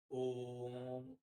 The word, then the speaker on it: ओम: मतलब होता है कि ओम का उच्चारण हम इस तरीके से करें कि जितना ओ के उच्चारण में समय लगता है उसका 3 गुना समय लगे और तब हम म बोले।